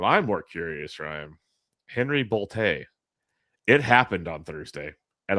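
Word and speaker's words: Bolte: if Henry Boltay, and actually it is pronounced Boltay, I believe. Yep, I'm not even being a dummy like I usually am with the Canton dog. I got I'm just it is Boltay.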